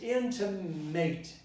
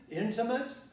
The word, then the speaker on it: intimate: word intima end of it some people might pronounce this into mate this would be wrong nobody would pronounce or